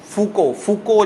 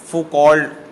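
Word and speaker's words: Foucault: ویسے سپیلنگ سے پڑھیں تو وہ مشال فوکولڈ کے سپیلنگ سمجھ آتے ہیں, لیکن اصل میں فوکو اس کا نام ہے.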